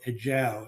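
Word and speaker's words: ejiao: used for the production of a substance called a jou. It's it's spelled e j i ao.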